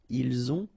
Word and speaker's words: ils ont: avez, ils ont, okay, final T not pronounced, and then we make the liaison, ils ont, elles ont.